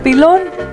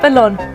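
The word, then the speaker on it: pilón: And so right away I told Papi, here comes a pilon. Not pelon, pilon.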